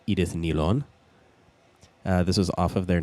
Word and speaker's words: Edith Nylon: a pretty cool move their name is actually pronounced edith nilon this was off of